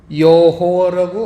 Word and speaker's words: 여호와: 그래서 여호바라고 해도 되고 여호와라고 발음을 해도 됩니다.